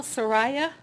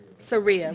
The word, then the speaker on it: Saria: Saraya. Did I say it correctly? Saria.